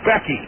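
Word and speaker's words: Gbeke: Becky that's right his his name is spelled g-b-e-k-e and it's pronounced Becky hi Becky I'll tell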